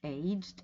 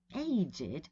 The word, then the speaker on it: aged: the two versions right it's aged meaning having a certain age so children aged six and nine right or aged between 25 and 40 whatever and age it when you mean very old so my age and having aged relatives right an aged car right and also of course the aged which is the very old people right okay the next